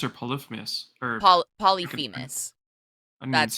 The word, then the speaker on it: Polyphemus: ne Saga uh wellers polyphemus but is it polyphemus or polyphemus or po polyphemus that's how you pronounce that's how you pronounce it polyphemus but um yeah as you can see uh